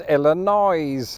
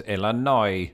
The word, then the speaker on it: Illinois: would agree with him of course the word Illinois is spelled with an S but then so is debris and do you know